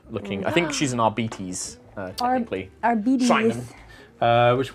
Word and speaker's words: Arbites: Yeah, so this she'll is be like an actual- yeah, I think RBTs, Arbites, however people pronounce it. that what they're Arbites. Arbites. In the novels, they say Arbites.